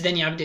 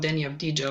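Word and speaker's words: Deni Avdija: Patrick Williams, Chicago Bulls, Danny Avdia, yeah, it's Danny Avdia, it's not Danny Avdija, like like everybody is pronouncing his name.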